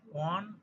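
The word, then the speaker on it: one: তো হি ইজ এ ওয়ান eyed man, এখানে ওয়ানের ওয়ের উচ্চারণ ওয়ের মতো হয়েছে তাই এ হবে।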